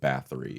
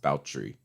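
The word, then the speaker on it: Báthory: elizabeth a lot of people call her elizabeth bathory it's pronounced baltree but elizabeth bathory spell is it like it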